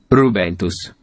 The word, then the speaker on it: Rubentus: The pronunciation in Italian. Rubentus.